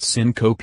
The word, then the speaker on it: syncope: before leaving the room Simca P pronounced syncope II is the medical